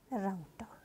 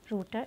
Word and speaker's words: router: Next is router or router. You can pronounce it according to you. Both pronunciations are correct. Router and router.